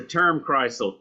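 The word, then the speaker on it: Turmkreisel: Spell it. It's a term Chrysle.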